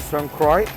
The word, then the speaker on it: St. Croix: Thomas to St. Croix. Because I was talking that we are going to St. Croix or St. Croix, like the French people would pronounce it like that.